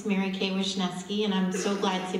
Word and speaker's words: Marykay Wishneski: It's Marykay Wishneski, and I'm so glad to be here.